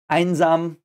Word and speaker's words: Einsam: Einsam, again, we have the E and the I, which is pronounced I.